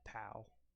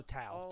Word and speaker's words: Tao: Oh, I said Pow, not Tao, but yeah. Oh, Pao. No Tao. Oh. No, you're right. I pronounced it wrong.